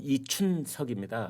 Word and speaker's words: 이춘석: 일단 팩트만 몇 가지 말씀을 드리면은 어 이제 이름이 정확하게 봄춘자 발음 이춘석입니다.